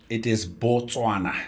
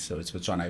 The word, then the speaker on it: Botswana: How do you actually pronounce it in your local language? It is Botswana. And Botswana means the land of Batswana, the land of the Tswana people. That's what it means. So, it's Botswana.